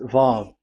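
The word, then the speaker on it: ו: VAV. So it's V as in Vogue. So it's really V. How to read Vogue? So the word, the shape Vav is really pronounced V, like Vogue.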